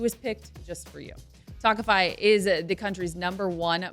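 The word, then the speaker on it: Tawkify: feel your best when meeting new people with tokify that's spelled t-a-w-k-i-f-y you'll feel confident that you're meeting someone special who is picked just for you talkify is the country's number one modern matchmaking service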